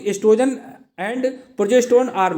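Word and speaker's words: oestrogen: वो का मतलब वो साइलेंट है एस्ट्रोजन, ठीक है, एस्ट्रोजन या प्रोजेस्टेरोन।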